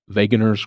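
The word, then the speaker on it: Wegener: is granulomatosis with polyangitis formerly known as vager granulomatosis I said that like I know that you don't pronounce the W but I'm not 100% sure maybe it's wager granulosis you get the gist and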